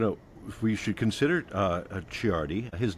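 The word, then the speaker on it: Ciardi: And uh we're going to we should consider uh Chiardi. His name is spelled C I A R D I.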